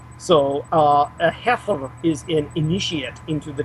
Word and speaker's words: Xeper: The real pronunciation is heifer, as if it were spelled with a KH.